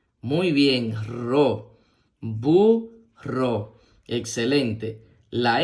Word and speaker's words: burro: suena bu muy bien la doble R con la o Recuerda que hay que pronunciarla con más fuerza muy bien ro bu ro excelente la n con